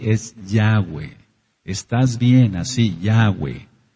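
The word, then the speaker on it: Yahweh: de porque sí es yahwe estás bien así yahwe pronunciando yahwe entonces en Génesis 171 dice que era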